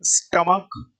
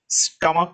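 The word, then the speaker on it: stomach: स्टमक, स्टमक को कैसे लिखेंगे, क आ रहा है लास्ट में, सी एच, ये जो लास्ट में सी एच है इसका उच्चारण क्या आ रहा है बेटा, क आ रहा है।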